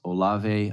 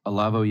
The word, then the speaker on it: Olavo: But there's Alexander Dugin, and who I pronounce Olave, I believe, is one of Olavo. Olavo.